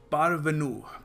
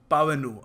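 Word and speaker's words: parvenu: पारवेनु पारवेनु नहीं sorry पावनू आर silent है। ठीक है? सो इसको हम प्रोनाउंस करते हैं पावनू।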